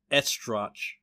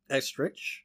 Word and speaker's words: Estrich: William F., and I cannot pronounce his last name, I was going to try my best to estrotch. Estrich? Estrich. Yeah, usually CH is a K sound.